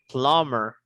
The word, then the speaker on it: plumber: receptionist okay good next plumber plumber you don't read letter b plumber plumber you don't read letter p it's silent b you don't read letter